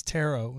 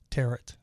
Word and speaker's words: tarot: something wrong because that way you learn to pronounce it correctly so it's tarot instead of uh tear it i don't know why i was saying tear